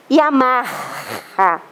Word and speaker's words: Yamaha: uma marca de veículo chamada Yamaha aquele H faz som de R Por que vende um